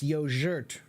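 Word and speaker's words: yoğurt: the Turkish word yogurt in the Turkish word the G is a soft sound so it's yoer of something like that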